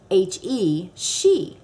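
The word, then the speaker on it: sidhe: it ban and s-i-d-h-e she so ban she so now you know how to pronounce it s-i-d-h-e is she that's the shi moon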